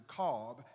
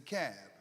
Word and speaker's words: Cobb: thing about Georgia because it's not pronounced as the Cobb it's the cab first thing secondly he